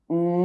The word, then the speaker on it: nœud: end of a word and followed by a silent consonant: nœud knot It is pronounced [œ]